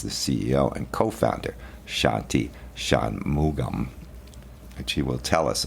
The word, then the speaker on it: Shanmugam: Shanmugum. It's like Shanmu gum.